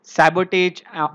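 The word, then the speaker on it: sabotage: News regarding acts of सैबोटेज over restrict. सो ये जो सैबोटेज मैंने बोला या फिर इसको सैबोटाज भी कहा जाता है, इसके प्रोनाउंसिएशन अलग अलग है, बट आपको वो याद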